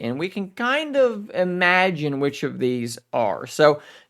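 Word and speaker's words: Imagen: like imagine 2 but it's spelled like image with an N on the end of I think it's pronounced imagine that would make sense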